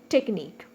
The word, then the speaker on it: technique: Technique. Technique. Only two syllables.